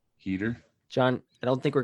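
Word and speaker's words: Heder: Heater.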